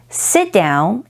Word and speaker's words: sit down: Sit down is an example of deletion because the T in sit is dropped in sit down.